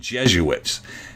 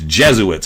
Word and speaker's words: Jesuits: trying to point out they're saying Jesuits it's Jesuits and ask getting Frank to